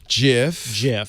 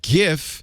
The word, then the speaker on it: GIF: Soft G pronunciation. Jif. Peanut butter. And then rotate look what's it. on the other side. On the other side, GIF. With a hard G Animated pronunciation.